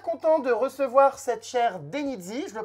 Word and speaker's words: Denyzee: Bon, en tout cas, je suis super content de recevoir cette chère Denizzi. Je le prononce bien.